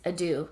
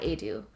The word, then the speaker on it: Edu: It's Edu, not Edu.